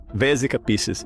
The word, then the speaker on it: Vesica Piscis: Isso na verdade forma um símbolo único chamado vessic Vic Picis, se estou pronunciando corretamente. Vesica. Vesica Pisces.